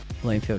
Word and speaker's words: Blomfield: It's actually pronounced Bloomfield. It's spelled with one O.